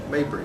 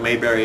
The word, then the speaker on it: Mabry: can figure it out spell your last name for the folks at home m a b r y and you pronounce it maybe it is not spelled like mayberry rfd so stop saying that people who have been calling it then marvin marby maybe yeah maybe how long have you